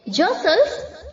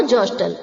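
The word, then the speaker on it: jostle: यूज करते हैं okay ज सल्स जॉसलिंग ध्यान रहे टी साइलेंट है उसे प्रोनाउंस नहीं करना है जसल नो जोस्टल ओके जट जॉटेड जॉटेड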